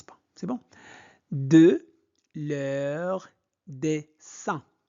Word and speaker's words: dessin: De leur dessin. I-N se prononce un. Donc, dessin animé. Et n'oubliez pas la liaison. Donc, dessins animés préférés, dessins animés